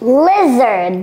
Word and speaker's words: lizard: You see, il n'a pas dit li, il a dit, say it again? Le. Donc ce i là, on l'appelle le short i, c'est un i court, c'est pas un i long.